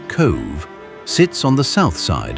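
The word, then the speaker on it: Cobh: Cove, pronounced Cove, sits on the south side of Cork Harbor with a population of just under 13,000.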